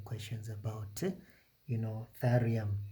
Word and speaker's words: thallium: Use the periodic table to help you answer the following questions about uh you know, thallium or tallium if you're pronouncing it that way.